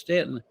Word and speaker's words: Staunton: It's spelled Staunton, but it's really pronounced Stanton.